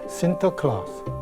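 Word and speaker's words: Sinterklaas: 임승 교수님 얘기한 것처럼 네덜란드식 발음으로 산타클로스가 신터클라스 그래서 이게 이제 미국식 발음으로 부르다 보니까 산타 클로스가 되는 거죠 근데 여러분들이 가장 궁금해하는게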